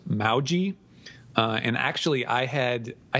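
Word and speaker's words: Mohji: now this is actually uh his name is pronounced mauji and actually i had i had originally i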